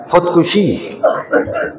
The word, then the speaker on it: خودکشی: خودکشی، خودکشی میں خودکشی، اکثر لوگ جو ہے تلفظ بھی غلط پڑھتے ہیں، خودکشی خودکشی میں خودکشی نہیں خودکشی ہوتا ہے۔ تو ایک شخص خودکشی